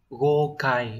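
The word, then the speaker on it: 豪快: chữ Khoái như vậy sẽ đọc là gokai đúng không nhở Có trường âm đúng ở đây sẽ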